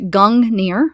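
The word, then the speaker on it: Gungnir: so we have gongnir Old Norse pronounced gang near oh cool I was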